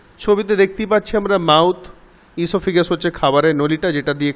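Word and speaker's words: oesophagus: তা আমরা পাশে ছবি দেখতে পাচ্ছি, লেখাও আছে দ্য মাউথ ইসোফেগাস, এটা উচ্চারণ হয় ইসোফেগাস, ওটা সাইলেন্ট হবে।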